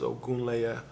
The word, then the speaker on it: Ogunleye: Last name is Ogunleye.